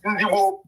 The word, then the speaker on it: Igbo: Whereby our original pronunciation of our name is Igbo.